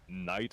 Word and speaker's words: knight: Knight and knife. Oh like uh seriously we we over pronounce the K in every occasion we get and you just dismiss it entirely.